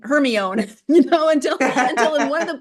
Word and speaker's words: Hermione: kids went through their whole 7 books saying Hermione, until in one of the books she actually tells Victor Crumb how to pronounce it, and it's spelled out phonetically.